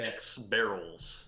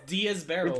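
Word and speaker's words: Diez Barrels: Is his name dead X barrels? It's Diaz Barrels.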